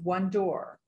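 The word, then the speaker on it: WONDOOR: also the founder of w-o-n-d-o-o-r pronounced one door and it stands for women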